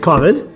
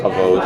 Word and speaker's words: kavod: Covered and location. No, it's covered. Actually, kavod.